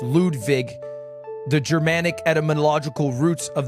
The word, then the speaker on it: Ludwig: My name is pronounced Ludv Vig. It's the correct correct uh correct pronunciation. I think my grandfather's German. I'm not sure. Ludvig, guys.